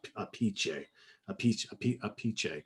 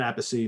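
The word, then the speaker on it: Appice: know who knows but apparently the the the authentic italian pronunciation is supposed to be a piche something like that so not apathy not a piece a pichai whatever who knows that's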